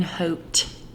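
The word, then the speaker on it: haute: modern matte lipstick in the shade coming in hoped and i say because it's spelled h-a-u-t-e and i'm going to use the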